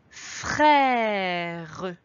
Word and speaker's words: frère: Dans frère, il faudra faire attention à l'accent. C'est un accent grave, il descend. Attention si tu le mets dans l'autre sens, si tu mets l'accent qui monte, l'accent aigu, on lira frère. Tu entends la différence? Frère, frère. Ici, il y a également